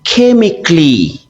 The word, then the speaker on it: chemically: The letter A is silent in the following words. We say logically, not logically. We say chemically, okay? We say physically. The A is completely silent.